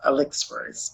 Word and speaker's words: Elixboris: It's hard to pronounce too, Elixboris, but that's how you pronounce it.